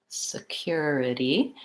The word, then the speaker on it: security: your words in security security I have unstressed first syllable stress second syllable cure it's just like the word cure security and then two unstressed